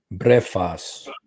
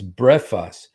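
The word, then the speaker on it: βρέφος: Brephos. Okay. I know it sounds like breakfast, you guys, but it's brephos. So in Matthew, when the Magi came, it was a child.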